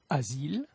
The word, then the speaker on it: asile: La lettre S est prononcée comme un Z entre deux voyelles. Asile, asile, usuel, usuel, case, case.